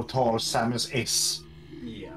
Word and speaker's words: Samus: i've many times actually said samus instead of samus at least it's better